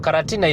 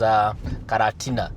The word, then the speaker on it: Karatina: You see, Karatina is in Central Province, and the Kikuyus could not pronounce the word quarantine. So they pronounced it as Karatina. Karatina instead of quarantine.